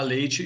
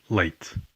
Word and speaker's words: leite: Aside from the different vocabulary, notice the different pronunciation of the word for milk. leite, leite, Again, we hear the difference in how TE is pronounced when unstressed.